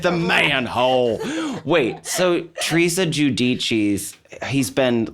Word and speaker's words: Giudice: We used to say Judice, but Yeah. then they corrected us. Teresa has corrected us, not us, but Yeah. America. But it's Giudice.